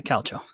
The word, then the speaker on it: Calcio: Yeah, Calcio.